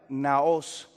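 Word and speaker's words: ναός: la palabra naos así como usted lo encuentra pronunciado naos n a o s Esa es la palabra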